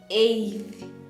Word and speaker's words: eighth: are positioning number eight we have added now the suffix th it has changed the pronunciation now we call this one uh we pronounce it as eighth eighth eighth like that okay yeah let